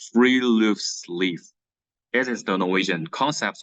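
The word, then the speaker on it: friluftsliv: in Norwegian called like we can pronounce as three Loops Leaf it is the Norwegian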